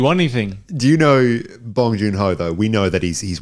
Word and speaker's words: Bong Joon-ho: It's Bong Joon-ho.